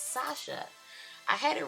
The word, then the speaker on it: Sacha: I mispronounced the name in my last video. It's Sasha.